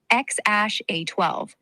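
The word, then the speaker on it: X Æ A-12: His full name is X A X, pronounced kind of like X ash A12, but Elon and everyone just calls him X or Lil X.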